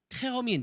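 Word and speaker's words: Termin: 뭐 어떻게 될지 모르지만 독일어에 보면 테어민 또는 테르민이라고 발음하는 그 약속이 있어요 그래서 제가 병원을 간다 그러면 테어민 잡았어 테르민 잡았어 이렇게 묻거든 아니면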